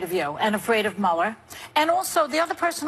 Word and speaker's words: Mueller: How do you say his name? Mueller, Mueller, or Miller? Mueller. Mueller, okay.